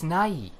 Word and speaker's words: Nighy: It's not how you pronounce it. Yeah, it's Nighy. No. Like when you say when you tell someone good night.